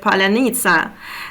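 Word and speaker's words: паляниця: of you or not you have to say the word palanitza and actually this word russians they can't pronounce this word because of the sound different sounds they will pronounce so they they will not pronounce it like perfect as ukrainians do and actually on fashion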